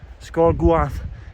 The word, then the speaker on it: Sgor Goaith: at the name I'll give you is um scor gu um that's how it's pronounced anyway um I think it's the Windy